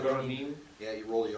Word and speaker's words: Ronin: So the Ronin, Ronin. That's the proper pronunciation. No, Yeah. Ronin. You gotta roll the R too. Ronin.